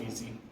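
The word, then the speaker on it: esy: they actually pronounce it it's pronounced easy okay um but like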